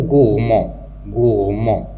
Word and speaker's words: gourmand: Le mot gourmand, il se termine par D, donc il est obligatoire d'écrire le D, même si on n'entend pas cette lettre.